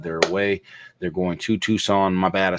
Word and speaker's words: Tucson: you know what's crazy I pronounce it like when I be trying to remember how to spell it I'd be like tuxon tuxon and I still typed it in wrong but it was